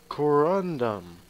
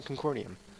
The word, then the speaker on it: corundum: that concordia con no i always pronounce it wrong corundum that's stupid i've always pronounced a concordium i don't know why